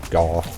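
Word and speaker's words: Gough: Now ironically, despite his name being like Vincent van Gogh, the actual character does in fact pronounce his name Gaw. So it's not a mispronunciation on my part.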